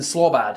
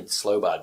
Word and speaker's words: Slobad: Heroes The Genius Goblin slob ad I've heard people say slowbard before but I don't like that pronunciation I'm saying slobad before hooking him into